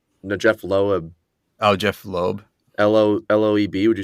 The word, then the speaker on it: Loeb: jeff jeff lemire the jeff lowe oh jeff loeb l-o-l-o-e-b would you say that's um yeah the